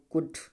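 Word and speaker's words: could: जैसे देखो, डी से पहले यल, इसका मतलब क्या हो जाएगा? साइलेंट हो जाएगा। तो क्या जो कुड, कुड, उड, ठीक है।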